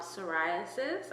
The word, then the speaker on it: psoriasis: Saras silent P then suis four syllables.